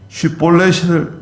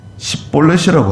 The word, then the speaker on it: 쉿볼렛: 이렇게 말하면 6절에 그들이 그에게 쉿볼렛을 말해보라고 하고 그가 바르게 발음하지 못하고 십볼렛이라고 하면 요단 나루에서 그를 잡아 죽였다는 거예요.